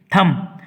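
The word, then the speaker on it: thumb: थम, यहाँ B silent है, थम, थम यानी अंगूठा, अंगूठा, अंगूठा मतलब अंगूठा, हिंदी में अंगूठा, मराठी में अंगूठा।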